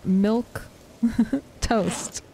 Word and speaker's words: Milquetoast: was like oh that that is how you pronounce it that is exactly how it goes It's milk toast uh and so after being enamored in that